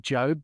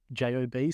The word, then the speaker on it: Job: Sebastian Job, or as the commentators pronounce it, Job, but it is spelled J-O-B, so I'm going with Job.